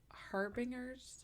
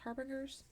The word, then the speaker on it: harbinger: been known to be harbingers harbingers okay I'm bad with that word um Harbinger Harbinger M really okay hard G harbingers of bad news